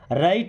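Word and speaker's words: write: कभी हार मत मानो राइट इट राइट का मतलब होता है लिखो यहां पे डब्लू साइलेंट है ना राइट का मतलब लिखो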